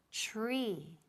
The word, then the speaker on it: tree: Now, ojo, la pronunciación, TR, TR, it sounds like ch, como CH más R. So, for example, árbol, tree. Good, muy bien. Not tree. Tree is typical Spanish. So repeat, tree, tree.